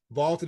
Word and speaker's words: VLTED: Vaulted is spelled VLTED, and it is the